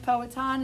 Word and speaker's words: Powhatan: um the poet or pow hatton okay and the chief is a chief poet on is actually how you say it and he was the